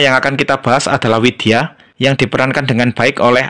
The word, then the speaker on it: Widya: Oh ya, di sini huruf V dalam bahasa Sanskerta tidak dibaca mirip F, tapi dibaca mirip W. Jadi, ini bacanya adalah Widya, bukan Vidya. Contoh lain, ini dibaca Dewa, bukan Deva.